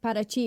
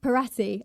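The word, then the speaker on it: Paraty: again going into language parachi is spelled parti and everyone was like where the hell is parti and I was like parachi but yeah anyway so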